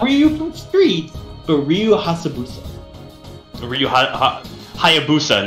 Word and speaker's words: Hayabusa: The only reason I know it's pronounced Hayabusa is because of the Halo 3 armor.